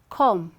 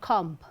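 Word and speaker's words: comb: just after m right where the word ends with the letter b just after m b is silent so there's someone who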